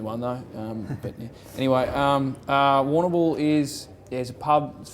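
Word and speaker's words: Warrnambool: How do I pronounce the town where you're from? Warnambool. Warnambool? That'll work, yeah, Warnambool. Warnambool.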